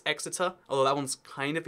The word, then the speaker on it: Exeter: You might say Exeter. Nope, it's Exeter.